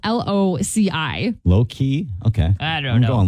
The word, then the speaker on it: Loci: It's spelled Loci. Low key?